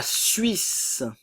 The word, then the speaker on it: Suisse: le S se prononce le E ne se prononce pas suédois suédoise la Suisse la Suisse encore une